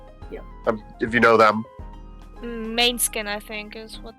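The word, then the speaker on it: Måneskin: Main skin I think is what how pronounced. Yeah. How do you pronounce it? The band pronounces it mannequin.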